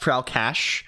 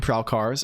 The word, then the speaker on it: Prowlcash: It's pronounced Prowlcash. I don't mind Prowlcars. I can start trying to say Prowlcash.